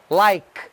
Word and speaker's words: like: Eu já tenho uma videoaula sobre isso aí, que você não pronuncia o E no final, né? Like, ó, like.